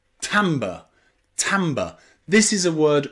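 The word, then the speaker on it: timbre: letter pronounced is a letter I can be pronounced a now there's only one word I know where the letter i is pronounced a and that is in the word tamber tber Tamba this is a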